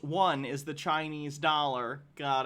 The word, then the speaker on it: yuan: Logarth says, the yuan, pronounced one, is the Chinese dollar.